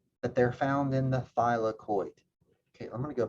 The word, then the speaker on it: thylakoid: how to pronounce it it's just three syllables by la coid okay thylakoid now what about the